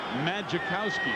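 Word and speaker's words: Majkowski: came out of Virginia the fans thought it was magowski because the the J is not pronounced and he has had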